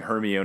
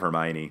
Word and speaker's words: Hermione: it seem like he was saying her me own instead of Hermione and then he keeps